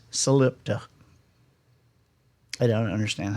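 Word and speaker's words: Salitpa: a town nearby and it's named sole it paw it is spelled s al IT PA slip so Sam I'm missing my so Selita is how it is spelled that's how the sign welcome to soul it PI but everybody in the area says salute I don't understand how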